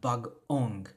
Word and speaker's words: bag-ong: nga ligature, so we have bag-ong, right? Bag-ong. Gipuy-an. There's that internal pause that you see. So every time you see that hyphen, you have to make sure you have that internal pause in pronunciation.